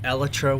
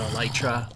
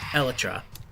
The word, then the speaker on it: Elytra: dragon fight to get Elytra wings, which, by the way, I found from Mojang. That's the proper pronunciation, not Elytra or whatever. Elytra. Again, it's from the source.